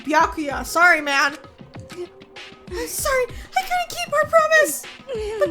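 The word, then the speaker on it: Byakuya: alone you're don't know you bacula wait what it's piakuya oh I've been saying his name wrong biakuya sorry man I'm sorry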